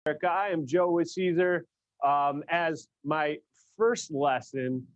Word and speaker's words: Siser: my lesson number one is how to properly pronounce caesar so say with me caesar that's right so congratulations you are walking away